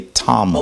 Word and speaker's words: Tamahu: It's actually pronounced Ta-ma. And he just says Ta. It's Ta-mahu. And it's a reason why, because we can break down each syllable. The same thing that you could say Tamahu, or you could say Tamu.